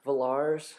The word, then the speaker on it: Villars: let's moving on uh villars rhymes with stars okay moving on swedenburg